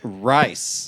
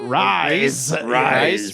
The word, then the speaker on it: Rise: Rise. Not to be confused with Ray, which is another type of energy drink. Calling it rice is more makes more sense for how it's spelled.